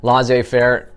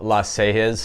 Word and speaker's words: laissez-faire: leadership style brodo proto mary it's frozen vikings laissez faire not to be pronounced la sejes which is kind of how it looks when